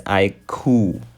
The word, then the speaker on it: iQoo: This is a new lineup from Vivo, and the company calls their latest flagship smartphone the iQoo, which is pronounced as iQoo.